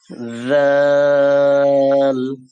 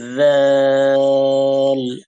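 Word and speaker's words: ذال: Soft করে আমরা যে উপরে সা পড়েছিলাম, সা পড়ার সময় জিভের আগাকে বের করে দিয়েছিলাম, দাঁতের সাথে উপরের দাঁতের সাথে টাচ করে জিভের আগা বের হয়ে গেছিল, সেখানে বলেছিলাম সা, সফট করে সা। ঠিক সেম জায়গা থেকে হবে জাল। এটাকে জাল বা জাল বলা যাবে না, সফট করে নরম করে বলতে হবে জিভের আগা বের করে জাল জাল জাজিজু জাজিজু।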